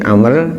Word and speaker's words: Amr: Amr bin Malik al-Bakri, Bacanya bukan Umar ya, tapi Amr, karena setelah ro ada wawunya.